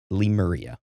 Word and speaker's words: Lemuria: And they said, well, there's multiple different ways you can pronounce it, depending on where you live. But if I was giving a lecture over this, I would pronounce it Lemuria.